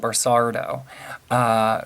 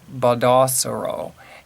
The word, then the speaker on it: Baldassaro: I called him Barsardo. So Baldassaro is that the way I think it's pronounced.